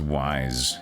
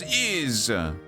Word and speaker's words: Ys: is a different place okay we're going was wise yeah you stupid Americans always think is is pronounced Wise It's not Wise It's is come on you American chalkboard shut up uh